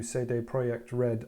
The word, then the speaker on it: CD Projekt Red: doubt already know who say they project red are yes that is how you say it but um i'll just